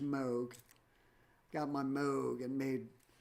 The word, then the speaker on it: Moog: And so I took this really scary sounding uh artist voice of these satanic passages and I got my Moog Moog pronounced Moog.